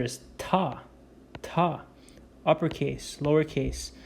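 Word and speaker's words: Թ: Next, we have to, uppercase, lowercase, pronounced as ta.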